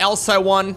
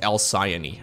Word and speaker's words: El Sayani: It's not El Saiwan, it's not El Sayon. Apparently it's pronounced El Sayani.